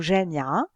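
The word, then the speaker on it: جامعة: C'est une lettre muette, comme dans le mot jamia.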